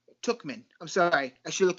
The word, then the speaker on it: Tauchman: We got Aaron Judge, Brett Gardner, Giancarlo Stanton, and Mike Tauchman. Tookman. I'm sorry. I should have looked at your little pronunciation there.